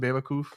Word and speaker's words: Bewakoof: So that's how you would pronounce it, Bewakoof.